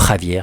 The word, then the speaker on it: Xavier: aujourd'hui décédé qui s'appelle Chiko Xavier ou Javier si vous le prononcez à la brésilienne donc médium brésilien.